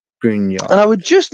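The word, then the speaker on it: Gruinard: And I want you to put in Grunyard Island. Now, it is spelt Gruin. UIN. ARD. I think I got it. Island. Yep. Grunyard.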